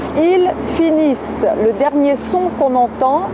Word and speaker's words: finissent: Je vous rappelle que la terminaison de la troisième personne du pluriel ENT ne se prononce pas. Ils finissent.